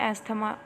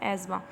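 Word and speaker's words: asthma: और ये है एस्थमा, इसकी करेक्ट प्रोनाउंसिएशन है एज़मा।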